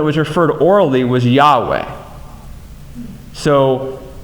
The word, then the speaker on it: Yahweh: than others but Jehovah which actually more accurately pronounces Jehovah but the actual Hebrew when it was referred orally was a Yahweh so it's very confusing they don't the Jews